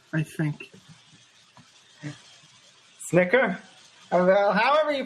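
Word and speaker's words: Snitker: do you pronounce his last name I've never pronounced his last name Snicker sniker what I didn't even know what his name was hold on s n i t k e r hiter I think Snicker however you pronounce it he's a new manager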